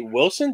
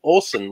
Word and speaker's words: Olson: lot of people say wilson did you say wilson i'm like no olson like the twins but without the money